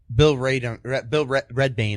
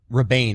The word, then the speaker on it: Rebane: According to Redbane, I'm sorry. Rebane, I'm sorry. Yeah, I said Red.